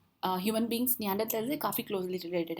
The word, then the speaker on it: Neanderthals: और basically नियांडरथल्स नहीं होता है, नियांडरथेल्स होते हैं बिकॉज ये आपका जो टी एच है that is pronounced T only.